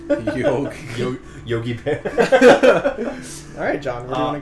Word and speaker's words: Yawhg: Wait, are we sure it's pronounced Yawhg or is it Yawhg? It's Yawhg. Yawhg.